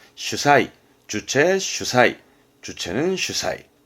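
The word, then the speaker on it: 主催: 발음은 슈사이.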